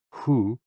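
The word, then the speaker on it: 呼: HOO, pronounced like hu, which is associated with the spleen, and XI, pronounced like shi, which connects the whole body.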